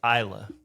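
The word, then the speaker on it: Islay: Beast it's a 5-year-old from the island of Isa looks like ISL but for everybody out there that if you want to look a little bit more professional when it's Isa is how you pronounce it but uh got a little bit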